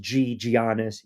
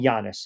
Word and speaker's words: Giannis: all you want on Giannis. Giannis. Giannis. That's what I call him. Giannis. I've heard people call him Giannis. I know the freaking G is silent.